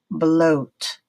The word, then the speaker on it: bloat: Number 12, you see two vowels written together. Second one then is silent. So the first one has the alphabet vowel sound O. So this is pronounced bloat, bloat.